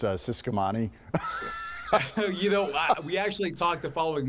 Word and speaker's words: Ciscomani: President, by the way, it's Ciscomani?